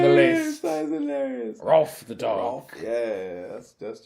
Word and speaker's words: Rowlf: He's not spelt Ralph. It's spelt Rolf. Like a dog noise.